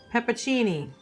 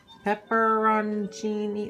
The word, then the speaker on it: peperoncini: this hep pimp no it's not Peppa Cheney peperoncini is something that all right